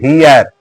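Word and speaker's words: heir: पहले एन लगेगा एन हियर हियर माने उत्तराधिकारी होता है एच से शुरू हुआ है हियर [गला साफ़ करने की आवाज़] तो एच का उच्चारण साइलेंट रहता है तो वहां पर एन का प्रयोग प्रयोग होगा।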